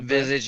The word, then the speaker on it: Visage: I think it's actually pronounced Visage. That's right? how I was thinking. Yeah. Visage is correct.